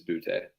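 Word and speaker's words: Boutte: I swear to God, it is Butte.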